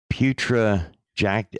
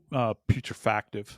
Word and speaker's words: putrefactive: The bodies already are in what is referred to as moderate putrejactive. I don't know how you pronounce putrejactive. Is that what it is? Putrefactive.